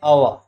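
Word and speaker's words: hour: तो जिस घंटे को बोलते हैं इसको अवर पढ़ते हैं। तो आगे तो एच आ रहा है, व्यंजन है, लेकिन इसको पढ़ते हैं अवर, ठीक है।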